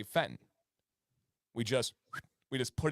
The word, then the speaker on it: Fenton: we we say U we drop syllables so for example a city that has our favorite Mexican restaurant is Fenton okay f n t o n Fenton but nobody here says Fenton we say Fenton we just we just